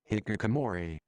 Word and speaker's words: hikikomori: And here's how to pronounce it correctly. You are looking at Julian. No. Hikikomori.